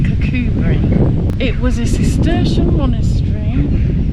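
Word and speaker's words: Kirkcudbright: It's quite close to Cubri, spelled Kudbrite but pronounced Cubri.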